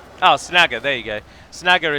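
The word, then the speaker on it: Snaga: Snagger is one of the few examples where you do pronounce the high A, as I'll call it, rather than the low A, where it would be Snager. But then that's because it's Orcish, it's not Sindarin or Quenya.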